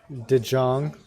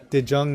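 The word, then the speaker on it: de Jong: I have no idea it's did Jung means the young in Dutch do you guys dose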